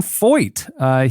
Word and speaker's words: Feucht: It's not spelled like that at all. Feucht.